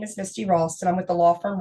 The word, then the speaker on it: Misty Ralston: Misty Ralston.